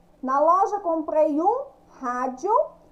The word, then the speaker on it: rádio: Então, a palavrinha rádio tem acento agudo em qual sílaba? No Rá. Rá. Então, rádio.